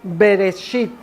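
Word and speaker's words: בראשית: representada por esta palabra en hebreo que significa bereshit así se pronuncia y bereshit significa en un principio hasta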